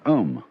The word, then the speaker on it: Om: of course the sound ohm that sound is used because if you spell it out a u-m it runs from the back of your throat to your lips and therefore it contains